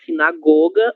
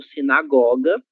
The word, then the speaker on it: sinagoga: A sinagoga ou sinagoga, as duas pronúncias são extremamente utilizadas.